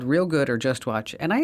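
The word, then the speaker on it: Reelgood: One is called Real Good. It's REEL, spelled like the film reel.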